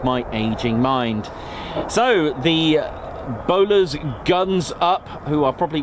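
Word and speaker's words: Bolars: The 492nd, the Mad Hatters, locally known as the Bowlers, spelled B O L A R S, spelled differently to the Bowler hat as we spell it here traditionally. However, it does mean the Bowler hat.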